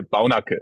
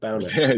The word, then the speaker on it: Baunacke: Baunacke? Hey, Baunacke, yes, it's okay. Baunacke. Okay, so there's a bit of a, Yes. as in Bauhaus. Yeah, Baunacke.